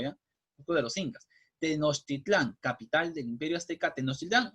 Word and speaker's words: Tenochtitlán: Yo sé que les va a costar trabajo pronunciarla. Se llama Tenochtitlán, ¿ya?